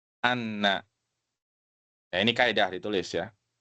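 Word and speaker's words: أن: Jadi kalau setelahnya fiil itu dibacanya an. Kalau setelahnya isim baru dibacanya anna.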